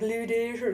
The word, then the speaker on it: Ludaescher: it, and they're like, Ludaescher, and I'm like, okay, pretend the E and the C aren't there. So Ludaescher.